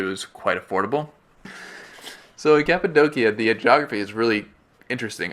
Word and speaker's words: Cappadocia: in late November 2014 we traveled to capid doia a lot of people pronounce it caposa or cap it's capid doia it's not actually a city but rather a